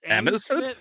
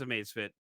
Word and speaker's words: Amazfit: this entire review is we finally know how to properly pronounce Amazfit Yes, because up until now it's like Amazfit. Amsfit, like it was, what? So yeah, it is Amazfit, just straight up.